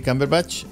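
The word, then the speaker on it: Cumberbatch: 4 de Febrero eh Cómo se llama el actor benedict Camper batch cber batch se pronuncia sí cber batch eh es interpreta Dominic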